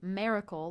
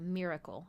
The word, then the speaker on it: miracle: So I said miracle, like mare, like Mary, instead of miracle.